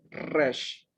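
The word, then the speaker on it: ריש: Tengo una resh y una seré combinada con una yod, suena como una E. Y al final está una shin con un puntito en el brazo derecho. Y cuando el punto está en el brazo derecho, se translitera como una SH. Por lo tanto, aquí dice resh.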